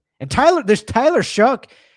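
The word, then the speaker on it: Shough: And Tyler there's Tyler Shook. It's shook by the way.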